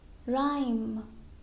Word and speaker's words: rhyme: Now, letter H is silent when it begins with an RH. Okay? For example, rhythm, rhythm, rhyme, rhyme, rhinoceros, rhinoceros.